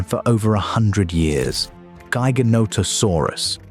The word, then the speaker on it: Giganotosaurus: Gyonotosaurus, pronounced giga note osur us, was longer.